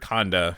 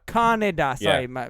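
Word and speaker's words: Kaneda: is obviously yeah okay I heard Conda for some reason I don't know why Kannada yes three syllables cotton what are your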